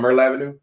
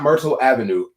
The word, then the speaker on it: Myrtle Avenue: Y'all know churches there right there on Myrtle Avenue? Not Myrtle Avenue, Myrtle Avenue. You got to say it right.